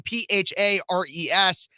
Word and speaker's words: Phares: last name Phares, because my parents and grandparents and everything just thought it'd be fun. And it's pronounced like Ferris Bueller, but spelled radically differently.